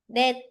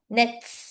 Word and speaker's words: 넷: 자, kapag nakita natin dito, this we pronounce net. Same lang. Hindi siya yung nets. Hindi siya ganun na. Okay? It's parang T na yung magiging net.